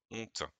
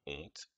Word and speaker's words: honte: est dans le mot honte il y as au début une lettre muette comment s'appelle-t-elle le h mais le h ne se prononcent pas c'est ce qu'on appelle